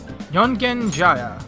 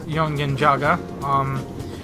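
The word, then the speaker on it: Yongen-Jaya: We are going to Yongen Jaya, which I keep mispronouncing as Yongen Jaga.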